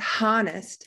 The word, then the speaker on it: honest: say knuckle honest honest now we don't hear that h it's not honest it's honest that h is silent soften soften i